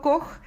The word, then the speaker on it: Koch: Bueno, espero que les haya gustado la historia de Roberto Koch, que se escribe K-O-C-H, pero en alemán se pronuncia Koch.